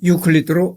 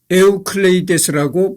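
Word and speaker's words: Εὐκλείδης: 고대 그리스어로는 에우클레이데스라고 발음을 한다는 겁니다.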